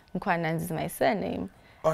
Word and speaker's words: Mkhwananzi: Mkhwananzi. is my first name. Mkhwananzi is my surname.